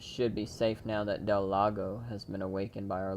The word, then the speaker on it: Del Lago: about to go see Del Lago if I'm even saying it right for sure it's Del Lago that is one thing